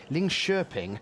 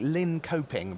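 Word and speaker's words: Linköping: uh, of Sweden from Ling Sherping. Looks like Lin Coping, but that's not how they pronounce it.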